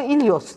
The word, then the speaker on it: Helios: Helios'un Yunancasını ben bizim Yorgo'ya telaffuz ettirdim. Yorgo İlyos dedi.